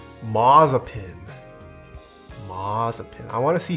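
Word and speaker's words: Mazepin: me spin let's spread it is pronounced mazzapin mazzapin i want to see schumacher on top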